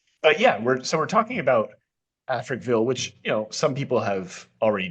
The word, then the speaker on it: Africville: We are talking about is it pronounced Africville? Africville is the name of the town.